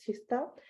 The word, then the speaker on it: Kista: is written as KTH Kista here, but it's pronounced as Kista.